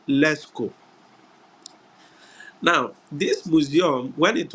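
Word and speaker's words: Lascaux: s c a u x but it is pronounced leco now this Museum when it was discovered uh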